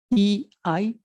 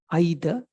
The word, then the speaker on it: either: E-I-T-H-E-R. How do you pronounce it? Some pronounce it as either, some pronounce it as either.